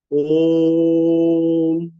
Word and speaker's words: ओम: अर्थ यह हुआ कि ओ शब्द को सामान्य की अपेक्षा तीन गुनी क्षमता से बोला जाए तद उपरांत उसके साथ अर्ध मा की अर्ध बिंदु अर्ध अनुस्वार कली जोड़ दी जाए यही ओम का उच्चारण है ओ तीन गुनी शक्ति से बोला जाए म मा के नीचे हलंत है अर्थात ये आधा इन तीनों का संक्षिप्त